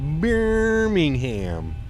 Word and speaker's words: Birmingham: It's pronounced Birmingham.